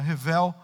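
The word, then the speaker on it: הבל: Como diz no livro de Eclesiastes, quando aparece a palavra vaidade, ela vem do hebraico, na minha pronúncia, revel, que significa vapor.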